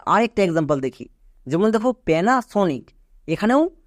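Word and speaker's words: Panasonic: এর সাউন্ড করে নিলাম এবার উচ্চারণ করো পি এন এ প্যানা next S ও এন আই সি সনিক পুরোটা কি হলো প্যানাসনিক এবার এখান থেকে বুঝতে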